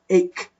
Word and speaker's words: ache: it is as the sample says it is ache ache why because these between the two slashes